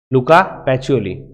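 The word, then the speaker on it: Luca Pacioli: मैं और मेरा एक दोस्त है जिसका नाम है लूका पैचोली। लूका पैचियोली। ओके। एक्चुअली स्पेलिंग में नहीं है लेकिन प्रोनाउंसिएशन में है।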